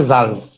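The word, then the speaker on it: Salz: যেমন এখানে হচ্ছে জালস, জালস, জালস হ্যাঁ। এখানে কিন্তু সালস বলা যাবে না, সালস এখানে জালস।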